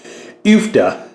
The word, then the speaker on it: Uff-Da: It is not pronounced Uff-Da. It is Uff-Da. So, the U like in few, da.